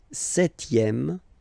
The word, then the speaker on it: septième: Le septième, so remember we don't pronounce this P here. Le septième, la septième.